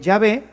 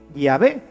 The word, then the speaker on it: Yahvé: Y por eso nosotros sabemos que la pronunciación correcta de Yahvé es así, Yahvé, y no Jehová, que es simplemente una literación.